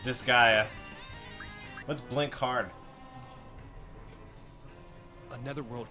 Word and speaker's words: Disgaea: How do I pronounce this game? You're saying it right, Disgaea. Disgaea.